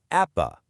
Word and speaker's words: APBA: And hey, just so we're all on the same page here, it's pronounced APA.